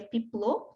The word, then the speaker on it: Peplau: A primeira foi Florence, depois nós temos Piplot ou Peplau, vocês podem ver esse termo, mas se pronuncia Piplot, tá?